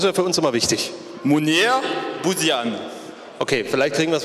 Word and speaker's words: Mounir Bouziane: Munir, wir wollen natürlich auch wissen, wie wird der Name genau ausgesprochen? Das ist ja für uns immer wichtig. Munir Bouzian.